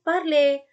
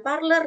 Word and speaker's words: parler: Contoh lain, parle, bukan parler ya, tapi parle.